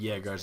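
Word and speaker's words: Jäger: By the way, they are pronounced jaggars. I believe uh it's they're aer German Dutch word and they make the J's like yes from what I've been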